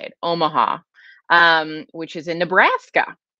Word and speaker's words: Omaha: with you guys i just came back from omoha omaha uh i know that's not how you say it omaha um which is in nebraska uh and i